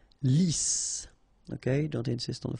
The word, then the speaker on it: lisse: Double S here, so it's really a strong S. Lisse. Okay, don't insist on the final E. Lisse.